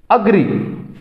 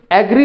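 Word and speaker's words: agree: About, allow, allow, अग्री, ये लफ्ज़ एग्री नहीं है, अग्री, अग्री। अक्सर हम इसको जो है ना वो गलत प्रोनाउंस करते हैं, इसकी प्रोनाउंसिएशन जो हम है ना वो गलत करते हैं। ये लफ्ज़ है अग्री।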